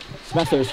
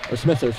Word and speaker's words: Smethurst: Smethurst right off the bench, or Smethurst rather. I realized that I've been